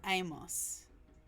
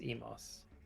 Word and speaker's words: Emos: and because of pronunciation is it Emos or Amos it's Emos okay anyway updating your